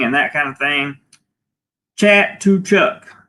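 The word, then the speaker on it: Chatuchak: Chat to Chuck is how you pronounce it.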